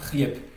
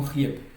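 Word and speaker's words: хлеб: Prenons par exemple le mot riep. Le mot riep. Vous voyez que ici dans le mot riep, ce mot se termine par une consonne sonore, par la consonne sonore B.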